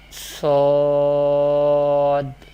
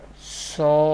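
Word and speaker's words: ص: The second Musta'liyah letter is Sad. Sad. Where we pronounce from our mouth this Musta'liyah letter, Sad, pronounced from the tip of the tongue and the inner edges of both front upper teeth. This Musta'liyah letter will be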